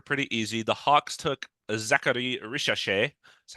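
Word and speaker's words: Zaccharie Risacher: The Hawks took Zachary Richachet.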